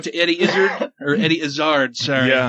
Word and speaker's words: Izzard: - Eddie Izzard Eddie Izzard sir yeah he pronounces it is hard that show was King